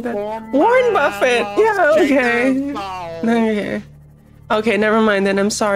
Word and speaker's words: Buffett: buffet or Buffet Jimmy so Jimmy Buffett is pronounced Buffett but if it's the food event it's called